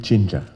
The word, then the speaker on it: 친자: dun chinja yeah say it again how do you pronounce it junin junin c h i n